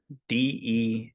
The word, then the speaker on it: Desharnais: Desharnais.